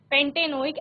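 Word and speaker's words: pentanoic: इसके साथ आप एक beautenoic एसिड paintainoic एसिड इस तरह से आप उसको प्रोनाउंस करते हैं चलिए जल्दी से ये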